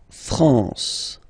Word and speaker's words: France: La France. La France, okay? A-N here, nasal en.